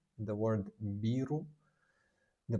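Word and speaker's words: ビール: The word biru. The pronunciation beu.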